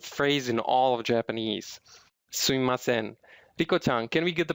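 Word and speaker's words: すみません: It just so happens that some Japanese are pronouncing this phrase sumimasen as suimasen. It may sound same to you, but basically the mi sound becomes I sound.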